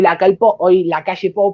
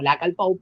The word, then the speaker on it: Lacalle Pou: Hoy la calle Pou, porque si no algunos se nos enojan porque lo pronuncia como la Calpou, pero bueno, el presidente